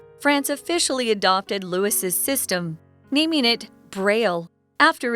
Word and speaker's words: Louis: as we call it you might hear his name pronounced Louis even in America because we've got some people who actually prefer Louie in America we're gonna call him Louis today so something really